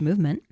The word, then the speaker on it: MVMT: So movement um spelled MVMT but pronounced movement watches was founded on the belief that style shouldn't break the bank.